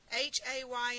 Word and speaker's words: hay: ¿Qué hay de nuevo? ¿Qué hay de nuevo? H-A-Y in Spanish, the H is silent, and so we start with the letter A, I.